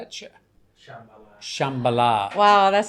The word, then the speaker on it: Shambhala: How would you pronounce, I say it Shambhala. It's just got an H in there.